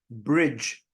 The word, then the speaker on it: bridge: You have D, G, and E, which makes the sound J. Bridge.